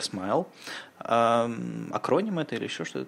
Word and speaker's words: SMIL: они передумали защ смайл смайл - это такая штука которая читается как смил вернее выглядит как смил но читается как смайл акроним это или ещё